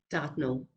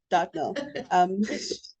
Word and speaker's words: Dartnell: Did I pronounce that correctly? Dartnell. Dartnall. Dartnell.